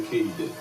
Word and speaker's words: katydid: They're a subfamily of the katydid, which is apparently how you pronounce it.